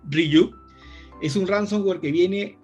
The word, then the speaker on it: Ryuk: banda, pero hablamos que este ransomware, que se pronuncia Ryuk, es un ransomware que viene desde el 2018.